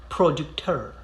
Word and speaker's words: producteur: You pronounce the R at the end, but it's very brief. It's like you're spitting something out of your throat.